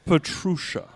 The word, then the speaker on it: Petrusha: Petrusha. Go ahead, say it. Petrusha. Petrusha. He's not. He's John, not. He's you're not not even trying. He's not evil Pete. He's Pete. Pete Petrusha.